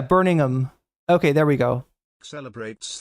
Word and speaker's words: Birmingham: The ham is it really not pronounced or is it just pronounced like is it like is it like minimized? Yeah, Burningham.